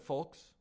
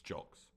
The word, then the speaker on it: Julks: It's Corey Julks. I might have said folks. It's Julks. I'm not an idiot. I'm not smart. Not an idiot. I messed up the pronunciation.